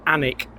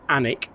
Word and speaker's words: Alnwick: And for those of you unsure about the pronunciation, it is actually Alnwick. You don't pronounce the L. And you don't really pronounce the W. It's Alnwick.